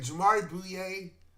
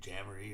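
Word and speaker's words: Jamaree Bouyea: Yeah, and again, that was I think I was pronouncing his name Jamboree or something, because I see his name and I thought like Jamboree. I went white person with it.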